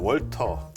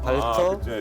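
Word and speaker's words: Walther: 007 총이랑 별 차이 저게 옛날에 조립식에서 어떻게 나왔냐면 영어식으로 읽었어요. 월터 P38 그 형태죠. 지금. 발터입니다. 발터. W를 그렇게 발음하니까 발터 독일 거구나.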